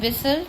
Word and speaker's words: whistle: In whistle, T is silent, so we have to write here two more words in which T is silent.